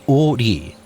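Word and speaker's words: 오리: Its name derived from the fact that it stretches for 5 ri, pronounced o ri, which is equivalent to 2 kilometers.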